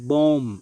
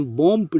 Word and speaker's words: bomb: BOMB, বম, এখানে বম্প নয়, বম অর্থ হচ্ছে বোমা, এখানেও বি এর উচ্চারণ হয়নি।